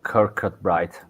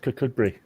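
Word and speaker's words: Kirkcudbright: cut bright which I I assume is not Kirk cut bright uh it's it's pronounced kakb um now [ __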